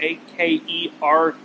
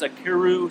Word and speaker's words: Akerue: So the frame is named Akerue, A-K-E-R-U-E. I asked him how he pronounces it, and he says Akerue, so I'm going to say Akerue.